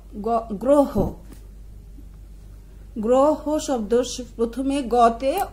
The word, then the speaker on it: গ্রহ: তার সাথে যদি অ থাকে তাহলে অ এর উচ্চারণ সাধারণত ওকারের মতো হয় যেমন গ গ্রহ গ্রহ শব্দ প্রথমে গতে অ আছে এবং তার